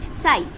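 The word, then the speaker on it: ψ: अब ये जो साई है, इसको क्या कहते हैं, त्रिशूल की शेप का है, इसे कहते हैं साई, पी साइलेंट होता है, ठीक है, बोलते हैं साई।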